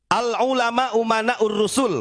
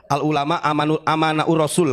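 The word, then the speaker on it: العلماء أمناء الرسل: Al ulama umanaur rusul. Walaupun si Bahar salah bacanya. Bukan al ulama umanaur rasul. Al ulama amanaur rasul katanya. Goblok, itu bukan pinter.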